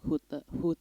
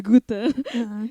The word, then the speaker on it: Goethe: Lo tes les di Hute, aduh kok dapat pronunciation gue bahasa Belanda, di Goethe.